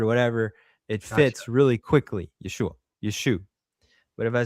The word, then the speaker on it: Yeshua: down but uh the proper way to say it at that time is a nasal back sound and it's a downward. It's a Yeshua. It goes through your nose and down.